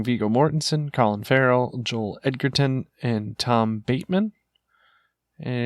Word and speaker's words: Edgerton: It's Edgerton.